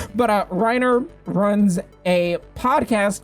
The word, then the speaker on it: Reiner: right this time writer you just call me rainer did i pronounce that wrong i'm reiner wow not rainer reiner but uh reiner runs a podcast called